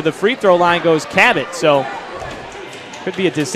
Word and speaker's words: Cabot: now 3 for 7 Cabot to make it a one-point game rattles at home spells at ka ba t pronounced like the Explorer John Cabot Capt there's the long